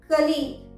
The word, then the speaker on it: colleague: अगर आप UK pronunciation के अकॉर्डिंग जाएं तो इसका प्रोनाउंसिएशन होगा कोलीग। क्लियर? और अगर आप यूएस प्रोनाउंसिएशन के अकॉर्डिंग जा रहे हैं तो आप इसे प्रोनाउंस करेंगे कलीग, कलीग। क्लियर हो गया? कॉलीग एंड कलीग दोनों ही सही हैं।